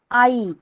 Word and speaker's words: आई: Mother, माता, माताजी कहते हैं हम हिंदी में, त्याला मराठीत आई म्हणतात. ओके, मदर, मदर को मराठी में आई कहते हैं. आपको प्रोनाउंस करना है.